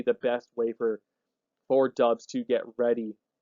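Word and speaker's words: Doubs: think sprouts dubs i i was pronouncing it doubts for a while but i think it's pronounced dubs uh coming from nevada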